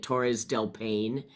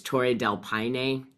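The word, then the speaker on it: Torres del Paine: didn't say that properly I was calling it Torres delpan and it's Tor Del Pine so I'm I'm hoping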